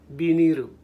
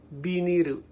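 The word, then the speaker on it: ビニール: home remember first that vinyl has a different meaning in Japan and it's pronounced differently it's pronounced be nehru be near it usually happens in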